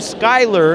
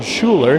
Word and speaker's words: Schuyler: Then we have the 4 of Bone Schuyler, as I hear it pronounced here. I know that we've always called him Bone Schuler.